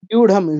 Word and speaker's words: व्यूढं: ভিউঢম, ভিউঢম, পাণ্ডবানিকমের পর ভিউ, বুডিয়ং ভিউঢম। বিউঢম। হুম, বিউঢম। সংস্কৃতে ড শূন্য ঢ শূন্য নেই। এই শূন্যরা গুলো দেখলে আমরা ড ঢ উচ্চারণ করব।